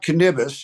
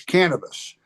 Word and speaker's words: cannabis: he calls it the endoc canibano it's not cannibis it's cannabis and so I think the endocannabinoid was is a more proper pronunciation of this word hanabono and and I